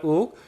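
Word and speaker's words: 郁: 그래서 성할 발음은 욱입니다. 성할 욱.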